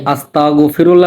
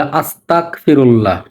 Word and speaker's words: আস্তাগফিরুল্লাহ: কিন্তু আমাদের অনেক ভাই এই আস্তাগফিরুল্লাহ না বলে বলে আস্তাগফিরুল্লাহ। এই গ এবং ক দুইটা পার্থক্যের কারণে শব্দের মানেই পাল্টে যায়।